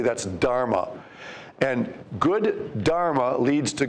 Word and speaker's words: dharma: up here for you it rhymes with karma and it makes it easy to remember that's the word dharma d-h-a-r-m-a dharma refers to duty